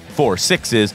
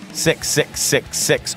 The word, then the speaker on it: 6666: he was wrangling up a spin-off code named 4 sixes which is pronounced as 4 sixes not 666 6 or 6666 this tail is set on the